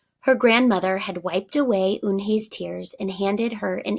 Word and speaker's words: Unhei: "It's spelled Unhei. It's pronounced Eunhae."